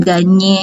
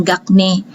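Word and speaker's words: Gagné: dan kelompok berikutnya menjelaskan ganyek ini bacanya ganye bukan gagne ganye Dwi vygotsky ataupun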